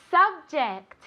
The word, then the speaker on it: subject: Subject. Subject. Vale, muy importante. Ject. Este sonido. J. Vale, otra vez es el sonido este como una CH, pero más suave.